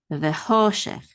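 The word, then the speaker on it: וחושך: cholam, ho, and then the shin has a segel, which is so this is she, and then it has a chaf sofit that ends this syllable. So this is shech, vechoshech.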